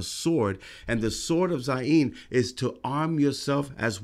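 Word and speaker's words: zayin: the next letter is the izine or the zain excuse me we have a left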